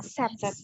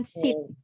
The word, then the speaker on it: sets: Jadi ini nyata sets, bukan sit. If you pronounce like sit atau sheet itu adalah beda arti, different meaning.